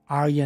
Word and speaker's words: Aria: Arya po.